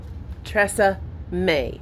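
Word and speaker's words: Tressa Mae: Yes, my name is Tressa May, M-A-E. It's pronounced like the brand, but it isn't French.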